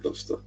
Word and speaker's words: Gloucester: Gloucester is pronounced Gloucester, I think. So yeah, Gloucester. That's how I pronounce it, Gloucester.